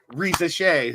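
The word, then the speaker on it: Risacher: It's turning into where is Bronny going instead of Reza Shea, who is that's how you pronounce Zachary's name.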